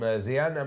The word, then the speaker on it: Xian: I hope I say your name correct. Pronouncing it properly. 100%. Who says, super proud of you, Athena. God, I love that. Xian. Yeah, yeah. That's the spelling of the name.